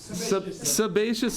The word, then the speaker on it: sebaceous: know how to say this word any guesses sebaceous is correct sebaceous yeah so the the sebaceous